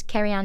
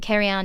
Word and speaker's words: Cerian: online my website is carry on music calm and carry on is spelt because we said it's Welsh it's CER ia n carry on and all my social